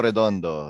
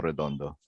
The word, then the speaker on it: Redondo: that well you know there's a there's a pretty legendary filipino comics artist named nestor redondo yeah you told me so yeah so just pronounce it the same way nightwing was awesome so